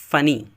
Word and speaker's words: funny: FUNNY، ویسے تو لکھا ہوا ہے ڈبل این ہے لیکن ڈبل این کا تلفظ نہیں ہوتا، صرف ایک ہی کا ہوتا ہے. تو یہ اسے پڑھتے ہیں فنی، فنی.